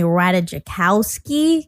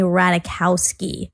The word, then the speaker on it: Ratajkowski: I realized that I was also mispronouncing Emily, because I was saying Emily Ratajkowski. That's how it's spelled. But it's actually pronounced Emily Ratajkowski. The J is silent.